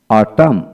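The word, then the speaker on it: autumn: কান্টেম তারপরে column column তারপরে সলাম সলাম এন উচ্চারণ হবে না তারপর আসেন ড্যাম ডি এম ড্যাম ড্যাম অটাম অটাম হিম হিম হিমনাল হিমনাল তারপর আসেন ড্যাম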